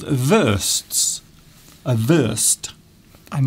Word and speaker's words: Wurst: Yes, because W's in German are pronounced like V's in English.